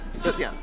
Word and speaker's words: Zetian: How do you pronounce it? Zetian. Zetian? Yeah.